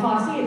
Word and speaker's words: Fossey: So, I am Robin Fossey, it does rhyme with Bossy.